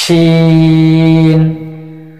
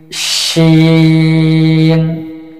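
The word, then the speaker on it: شين: যে শিন হরফটা জিহ্বার মধ্যখান, অর্থাৎ জিহ্বার মধ্যখান উপরে, তার বরাবর উপরে তালের সঙ্গে লাগিয়ে একটু শক্ত আওয়াজে উচ্চারণ করতে হবে, 4 আলিফ পরিমাণ টেনে। শিন শিন শিন।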